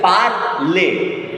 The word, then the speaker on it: parle: So this word is made of two syllables. Parle, école, école, parle.